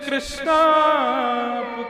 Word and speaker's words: कृष्ण: तो मेरा नाम है भगवान का नाम कृष्ण है महामंत्र का उच्चारण क्योंकि गड़िया वैष्णव संप्रदाय में महामंत्र का उच्चारण क्योंकि उसमें अधिकतर भक्त बंगाल देश के हैं तो इस कारण उनकी भाषा लिपि ही ऐसी है कि वह हरे कृष्णा हरे कृष्णा हमारे बगल